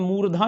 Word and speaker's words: मूर्धा: कुछ लोग देखिए गलती बस इसे मूर्धा कह देते, छोटा उ लगाते हैं ना, जो आप कहते हैं हर्षु, जबकि ऐसा नहीं, मूर्धा में देखेंगे दीर्घु, और इसे ध्वनि का